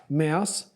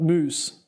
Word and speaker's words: Mous: out the case now it is pronounced Mouse it says on their website we are mouse mouse not moose so I'm just going